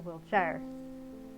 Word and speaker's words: Wiltshire: king and queen of Wiltshire or Wilshshire. I say here because that's what how they pronounce it in England and I've been watching a lot of great British bake off.